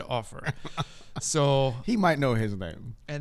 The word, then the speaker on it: Offor: us on the air somebody had told us Offor. Oh. It was even written phonetically on our computer screen. Hey, this is how you pronounce it. Surely that was not my guys. Somebody came along later and was like, I heard him saying his own name in an interview, and he said Offor.